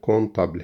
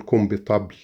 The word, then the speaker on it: comptable: Le comptable هي نطقها كده، ما حشقول كومبيتابل، لا، حرف البي لا ينطق.